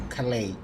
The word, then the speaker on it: Calais: Ooh, Calais. I just learned the other day that that word is not Calais as I used to spell it. It's Calais.